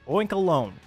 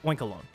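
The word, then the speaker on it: Oinkologne: oink oink again what how do you pronounce that oink oink alone I know it's like cologne and oink oink I'm just oink alone whatever scovillain gives me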